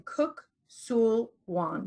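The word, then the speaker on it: Kuk Sool Won: Divinity, and a second degree black belt in Kuk Sul Wan. Did I pronounce that right, Cynthia?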